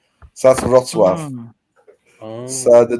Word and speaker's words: Wrocław: It's spelled W-R-O-C. Is that a T-A-W? So for Wrocław, me, yeah, it's Wrocław.